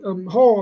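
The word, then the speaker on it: Haugh: han han gotta have Hall I mean has to have a I think that's how you say his name h a u g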